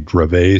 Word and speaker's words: Dravet: By the way, I think I mispronounced this because it's French. It's probably Dravet syndrome.